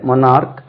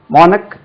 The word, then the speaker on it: monarch: மொனார்க் மொனார்கி தவறு. மானக் MONARCH MONARCH மானக் மானகி மானக் மானகி அது மொனார்க்கும் இல்லை.